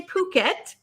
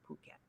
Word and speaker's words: Phuket: Phuket not you could you could pronounce it another way and I'd get in trouble with the FCC so but we'll say Phuket but it's p-h-u-k-e-t and